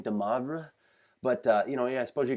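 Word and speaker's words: de Moivre: And that's, I guess, how I say the gentleman's name, DeMoivre.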